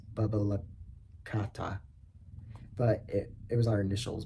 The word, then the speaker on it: BBL Cat: At one point, I was part of a group called BBL Cat, pronounced Bubba Kata.